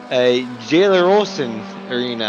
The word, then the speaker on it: Gelleråsen: It's actually oh boy, Gelleråsen Arena. I think I pronounced that right. The A with the circle over it's a that's an O sound if I remember correctly.